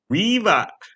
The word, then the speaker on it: Riva: Why would you pronounce it Riva? That sounds Riva. That sounds so dumb. It's named after a river. Because Riva on the river. The river is right next door. Is close by. So just pronounce it Riva.